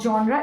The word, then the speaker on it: genre: It's not genre, first of all. There are many people who use the pronunciation of genre. It's genre. Okay, it's a French word.